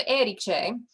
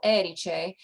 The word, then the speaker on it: Erice: so the town of eriche um and you put the accent on that first syllable eriche is named for eriks